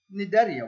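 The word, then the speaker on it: Cnidaria: group the phylum netaria I know this is silent I I science words just confuse me as well but it's it's written as Nigeria so nidaria what are the the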